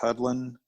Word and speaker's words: Hudlin: Writers like Daniel Way, Reginald, it's like pronounced Hudlin, Ed Brubaker, Brian Michael Bendis.